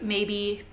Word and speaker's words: Mabe: Maybe it's M-A-B-E. I think it's pronounced maybe.